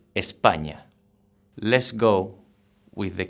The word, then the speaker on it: España: España, which means Spain. The pronunciation is kind of putting like an N and a Y together, España, but a little bit quicker, España.